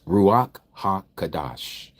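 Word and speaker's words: Ruach HaKodesh: we don't say it that way but it's ruak ha kadash Ruach hakadash means the set aart spirit in English.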